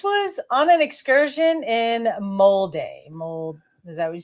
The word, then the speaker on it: Molde: All right, so this was on an excursion in Molde. Is that what you say? How you say it, right? Molde.